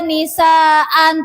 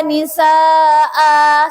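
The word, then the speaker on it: نساء: Atau dibaca katsirau wa nisaan, nggak boleh juga. Jadi yang tepat dan benar adalah cara bacanya ini adalah katsirau wa nisaa, seperti itu, seperti mat asli atau mat tobi'i.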